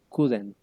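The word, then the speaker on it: couldn't: dice Cut not si uno quisiera contraerlo uno tendría que decir kudent entonces porfa repítela para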